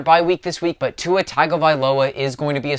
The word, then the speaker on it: Tua Tagovailoa: are on their bye week this week but tua tagovailoa is going to be a starter in the